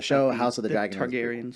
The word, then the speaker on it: Targaryen: Targaryens. Is that how you pronounce their name? Targaryen? Yeah.